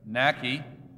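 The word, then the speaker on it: Naake: Nack, rhymes with lake.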